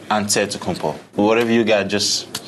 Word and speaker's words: Antetokounmpo: And Antetokounmpo is so long.